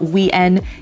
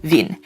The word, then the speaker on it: Wien: in mind is that the W in German is pronounced like a V sound. Now, the most prominent example of this is going to be the German name of Vienna, which is Wien. It's not Wien, it's not Wien, it's Wien. And similarly, the most popular